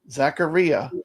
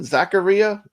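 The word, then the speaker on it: Zaccaria: games uh Jason says it actually does rhyme with diarrhea Zacharia am I saying it right Jason Zacharia so it is Zacharia Zacharia Zacharia Zacharia not zachar or Zacharia or Zakaria yeah it's Zacharia Zacharia Zacharia okay I think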